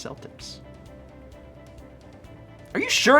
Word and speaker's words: Celtic: is different that's why so it is Celtic but the sports team pronounces it Celtic okay I feel better